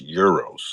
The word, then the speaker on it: Uroš: That's how it's pronounced? It's Euros.